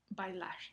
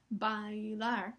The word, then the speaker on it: bailar: Pero que hayan dicho diptongo, bailar. No es bailar, sino bailar. La I se escucha más corta.